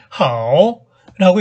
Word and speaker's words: 好: 중국어로는 好 하오라고 읽는 글자입니다.